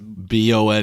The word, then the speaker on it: Bone: Are you sure it's Bone or Boone? No, it's Bone. It's Bone, yeah. He's like, but I pronounce it Boone.